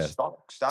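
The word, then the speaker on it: Stach: Stack.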